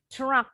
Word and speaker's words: truck: Truck. Kebetulan ada CK. C-nya bunyinya sama dengan K.